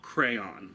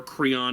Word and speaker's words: Creon: It is the third in the series, and this one deals with Oedipus's daughter Antigone and his brother-in-law Creon, or Creon depending on the pronunciation.